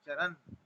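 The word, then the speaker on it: चरन्: चरण विषया इंद्रिय चरण चरण में न जो है वो हलंत है इसलिए उसको हम हलंत जैसा ही उच्चारण करेंगे चरण ऐसा विषय चरण आत्मवश विधेय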